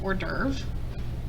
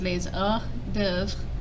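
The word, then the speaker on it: hors-d'œuvre: dev this means appetizers we use this word in english but we pronounce it hors d'oeuvre but in french it's pronounced laser dev kind of close means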